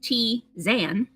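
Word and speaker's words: tisane: grew up with allergies pronounced t zan is an infusion of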